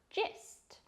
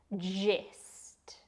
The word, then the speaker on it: gist: one of my favorites gist the pronunciation really involves is making the G sound gist gist is a noun